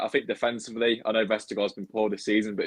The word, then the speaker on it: Vestergaard: Oh, Vestergaard. Sorry, I've been told by Andreas who've got to pronounce it correctly.